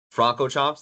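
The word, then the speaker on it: Francorchamps: I've actually never heard it fully pronounced. Fronco Chomp. Franco Chomps.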